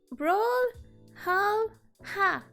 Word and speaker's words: Brawlhalla: Brawl, hal, ha. Oh, that's how you say it. Brawl, hal, ha. It's Valhalla, but brawl instead of Val.